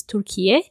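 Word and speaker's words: Türkiye: off to ismir tur I should say that's the proper way to pronounce tur and uh we that's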